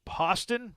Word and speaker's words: Poston: We have JT Poston, rhymes with Boston, over Putnam.